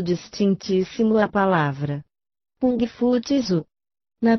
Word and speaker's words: Tzu: Por exemplo, a sílaba final Tzu ou Tze é extremamente difícil de pronunciar-se. O som que dela mais se aproxima é TS, mas é impossível figurar-lhe com letras inglesas o som verdadeiro.